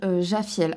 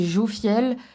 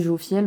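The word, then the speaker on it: Jophiel: sur certaines cartes là c'est jofield en fait selon ça peut se prononcer et s'écrire de différentes manières d'accord donc moi dans mes cours j'ai jaffiel en fait c'est jouer au fiel bon voilà sur les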